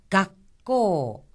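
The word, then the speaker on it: 学校: 하지만 한 가지 주의하셔야 될 점은 발음할 때 각하고 나서 잠시 숨을 멈추었다가 코라고 하는 겁니다. 각고, 각고. 또한 여기서 코 부분은 코라고 하는 오 모음 뒤에 우가 이어졌으니까 코하고 길게 발음을 합니다.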